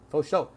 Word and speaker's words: for sure: For is pronounced faux, sure is show, for show, faux show.